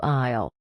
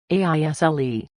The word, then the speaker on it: aisle: is a walkway between shelves, and it is pronounced exactly like the phrase "I will shorten to aisle." The spelling is completely crazy, aisle. Both the A and the S are completely silent. You just say aisle.